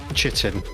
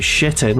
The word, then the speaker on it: chitin: I've always pronounced it chitin, but apparently I'm wrong. You could also pronounce it shitin, which is what my